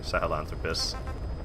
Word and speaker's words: Sahelanthropus: than Quiet for fighting Sahelanthropus. Wow, I'm actually pronouncing it correctly now. I'm pretty sure I, like, dropped an entire syllable previously. Alright, I do have a